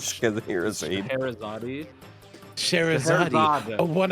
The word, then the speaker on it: Scheherazade: Shezharade. It's Shez Shez- Harade. That's the fucking. It's. I don't know why she's called Shez. To be honest, it's Scheherazade.